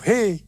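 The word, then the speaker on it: ה: Perhatikan juga cara pelafalan huruf ini. Pun seperti orang yang menghembuskan nafasnya. He.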